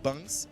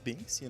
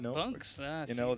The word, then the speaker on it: Bunks: Because I recently also learned that it's Bunks and not Binks, Bunks, there's a different pronunciation in that, also where the players, of course, from.